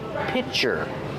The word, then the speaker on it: pitcher: is a glass pitcher remember pronunciation pitcher piter use the short I sound like this is plus the CH sound for chicken picture this is a